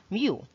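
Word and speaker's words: μ: of the greek alphabet this is the spelling but it is pronounced as mu it is used to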